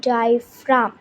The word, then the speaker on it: diaphragm: Main parts of respiratory system are nostrils, nuzzle cavity, windpipe, lungs and diaphragm. Okay. So see this is a spelling which takes difficulty in pronunciation.